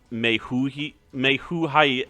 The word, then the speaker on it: Majael: I just looked it up, and this guy's name is pronounced Mehuhai.